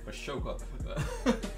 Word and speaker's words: Ahsoka: The H in Ahsoka is silent. I don't care. Ahsoka is banging, bro. I'm gonna say it with chest. Ahsoka.